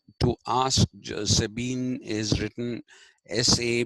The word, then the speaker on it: Sabine: now this is Led people uh like George Sabine to ask Sabine is written sa a b I ne e